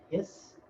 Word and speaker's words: His: av bundle or the bundle of hiss even though his is spelled his okay it spreads them